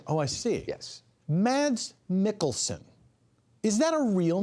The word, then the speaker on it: Mads: I see it yes Mads Mikkelsen is that a real name yes and it's it's math you don't pronounce the D you don't pronounce the